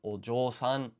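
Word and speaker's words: お嬢さん: be shi with dakuten becomes ji, followed by half-sized yo to form jo. Then we just stick a u to get jo for a total of ojo-san, meaning daughter, the honorific form.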